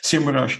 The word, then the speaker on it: SEMrush: knew what a SEMrush, now it's pronounced SEMrush is.